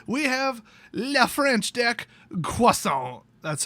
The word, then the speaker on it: Croissant: i gave it we have le french dec cuaso that's how you pronounce it it's french that is the accurate